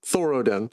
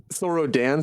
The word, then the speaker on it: Thorodin: Thoro Thoroden. Okay. Thorro Dan. Sorro Dan. Like the A. Yeah. It's like Dan, but it's pronounced like Den.